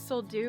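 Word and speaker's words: Sol Duc: Duck Trail head um I thought maybe it was so D but I'm looking at the sign and it's spelled so duck so that's probably the right way to pronounce it I'm excited because I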